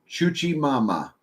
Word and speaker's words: Chuchi Mama: Chuchi Mama. Oh, Chuchi. I can remember that. Chuchi Mama. It's kind of like a spin from the Hoochie Mama.